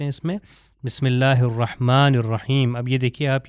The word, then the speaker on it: الرحمن: اب یہ دیکھیے آپ، یہ ہا ہے اس کے اندر، اور دوبارہ اس کے اندر بھی ہا ہے. بسم اللہ الرحمن الرحیم. ہا جو ہے یہ حروف حلقی میں سے گلے سے تلفظ ہوتا ہے.